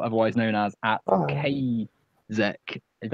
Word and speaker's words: Qaezec: known as at Oh, Kazek. Is that how you pronounce it? no one's ever pronounced it right. It's pronounced Kazakh, but it's Qaezec.